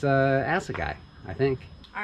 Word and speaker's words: Assegai: tires you should start by knowing how to pronounce the tires it's uh as a guy i think all right so how are we